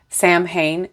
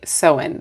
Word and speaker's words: Samhain: It took forever for me to stop saying Samhain to actually get my brain to say Soin.